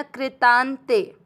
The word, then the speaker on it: कृतांते: ता के साथ आधा न कृतांते।